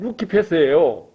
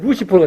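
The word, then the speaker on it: Lucifer: 그걸 라틴어로 읽으면 루키페스예요. 그런데 영어로 읽으면 루시퍼가 되는 거예요.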